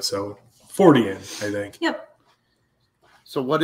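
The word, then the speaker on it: Fortean: adjective or something then you would say his name and then just add the the suffix to it so forian I think yep so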